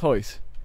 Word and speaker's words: Royce: You know, it's spelt Royce Gracie, but it's pronounced Hoyce.